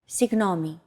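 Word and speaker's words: συγγνώμη: and it means excuse me or I'm sorry signomi use this phrase when you want to grab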